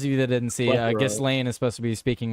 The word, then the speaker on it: Ghislaine: I know it's a little confusing for me too, but Ghislaine. I just, I've been told by people who know best that that's how it's pronounced.